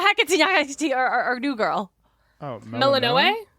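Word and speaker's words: Melinoë: Oh, Melanoe? Melanoe, okay.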